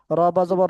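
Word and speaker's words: رَبِّ: রব্বি শব্দটা কিন্তু টান হবে না। রবাবর রব্বাজের বিচে দুইটাই হরকত হরকতের উচ্চারণ তাড়াতাড়ি পড়তে হয়।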